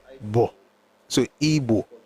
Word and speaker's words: Igbo: They don't say B. It's Bo. Bo. So Igbo. I prefer to spell it as IBO for two reasons. Number one, it helps me. It's closer to Igbo than IGBO. That's number one.